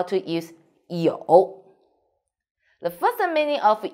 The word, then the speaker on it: 有: In this video, I will teach you how to pronounce it, how to write it, and how to use it. First, let's read it. 有, 有, pay attention.